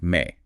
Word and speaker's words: ME: Yes, spelled ME but pronounced may.